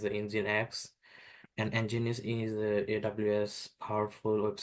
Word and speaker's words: Nginx: virtual private cloud and the engus is known pronounced as engine X and engine is AWS